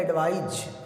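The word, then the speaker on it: advise: जो पहला वर्ड मैंने लिखा इसका उच्चारण होता है एडवाइस, और दूसरा जो मैंने लिखा उसका उच्चारण होता है एडवाइज। यानी इसका मतलब तो होता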